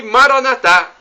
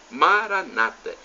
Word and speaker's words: Maranatá: E Maranatá, uma expressão do aramaico, e nós pronunciamos assim, com a tônica na última sílaba. Nossos irmãos separados, os evangélicos ou protestantes, dizem Maranata, com a tônica na penúltima sílaba.